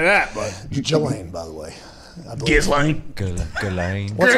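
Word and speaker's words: Ghislaine: Her name is Jelaine. Yeah. It is not Gizlane.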